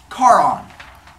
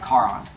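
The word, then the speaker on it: Charon: can move on ish next up car on c-h-a-r-o-n car on God plays thing other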